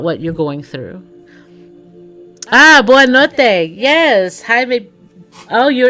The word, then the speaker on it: boa noite: Okay, so not bom, but boa noite.